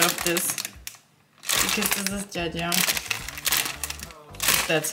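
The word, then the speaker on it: 짜장: Because this is jajang.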